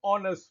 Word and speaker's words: honest: For example, an honest man or an R. Here, the H is silent. So the word actually starts with a vowel sound.